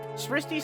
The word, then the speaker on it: Sristi: Sristi sounds like Christy.